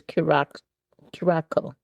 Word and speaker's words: Curaçao: It's Curaçao. It tells you how much I drink it. Well, I can't even pronounce it.